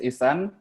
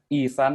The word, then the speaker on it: Isan: My name is Isan. It pronounced as Isan, like electronic sun, Isan.